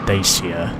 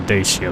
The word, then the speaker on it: Dacia: But yeah, I'm pretty sure that was a Dacia board I saw there. Even then, if some people pronounce it as Dacia, but I think Dacia is just much easier to say.